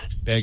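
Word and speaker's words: Baig: Begg is spelled B-A-I-G.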